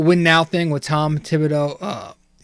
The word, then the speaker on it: Thibodeau: now thing with Tom Thibodeau, I always forget to pronounce the TH, you know, wanting to win now.